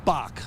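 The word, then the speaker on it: Bock: was called ibuk but in Munich they pronounced they thought it sounded like Bach which is which is the German word for goat oh for goat so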